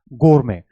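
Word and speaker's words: gourmet: गोरमे। और ये दोनों में, ब्रिटिश में भी और अमेरिकन में भी इसकी प्रोनाउंसिएशन सेम होती है।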